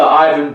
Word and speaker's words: Ivan: So Ivan writes, Ivan, pronounced E-Y-E, and he writes that in all capital letters, dash V-A-N.